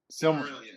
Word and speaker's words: Silmarillion: Silmarillion. Silmarillion, yeah.